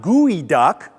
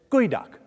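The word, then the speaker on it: geoduck: sea clam looking creature and that is how you pronounce it so say it with me right now it's not gooey duck say gooey duck it's gooey duck you have learned well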